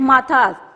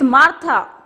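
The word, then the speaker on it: Martha: अब he called the name wrong, Saint माथास. इट्स मार्था. अब वो उसकी रेक्टिफिकेशन करवा रही है, not sent माथास, it's Saint मार्था.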